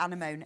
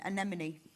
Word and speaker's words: anemone: No, you need to pronounce this for me because I can. Yeah. Anamone. Anemone.